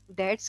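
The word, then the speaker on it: debts: as memorandum of डेट्स डेट्स का B silent होता है डेट्स मींस कर्जा इज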